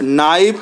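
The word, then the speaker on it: know: जैसे आप देख लीजिए नो है के एन ओ डब् नो ठीक है तो इसमें के साइलेंट है अंडरलाइन कर सकते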